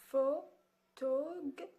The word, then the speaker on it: photographe: Photographe. Ici, le P et le H se prononcent F.